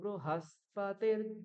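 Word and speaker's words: बृहस्पति: হুম স্বস্তিনো বৃহস্পতির ধাতু ব্রু বৃ বলা যাবে না ব্রি বলা যাবে না বয় ঋ তে বৃ উচ্চারণ হয় কিন্তু যখন আপনারা এইভাবে উচ্চারণ করবেন এই কৃষ্ণ যজুর্বেদের মতন উচ্চারণ করবেন সেখানে ঋকারকে রু উচ্চারণ করতে হবে ব্রু এর আগেও একটা কথায়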